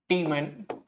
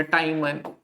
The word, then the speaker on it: Tiemann: Reamer टीमन या टाइमन, थोड़ा pronunciation सबकी मर्जी है, कैसे भी कर सकते हैं, रीमर टीमन कर सकते हैं, रीमर टीमान कर सकते हैं, अप टू यू, ठीक है।